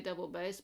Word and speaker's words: double bass: So there are 2 big fantasies for what we call the great double bass, or probably we should say double bass, but it's always spelt with a double O at that point, and 1 very early in nomine.